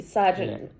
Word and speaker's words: sergeant: the balance sergeant it i know it's spelt surgeon but it's sergeant you may find the